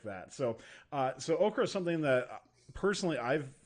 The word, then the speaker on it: OCCRA: Is it pronounced OCCRA, by the way? Yeah, OCCRA for sure.